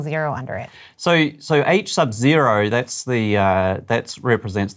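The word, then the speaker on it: H₀: the alternative hypothesis so what how do you pronounce it h Sub Zero this is in case you're wondering in the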